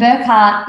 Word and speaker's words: Burchgart: in front of me and Burkhart is the way you actually pronounce my surname okay um birchgart is how it sounds or is spelled and that is um